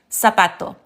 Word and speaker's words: zapato: So instead of saying zapato and corazon, it's actually zapato, corazon. So just remember that, yes, the Spanish Z sounds like an American S.